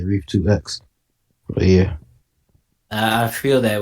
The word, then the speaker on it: Rief2x: So I just flipped it to Rief 2 times. That's the proper way to say it, but I just say Rief2x.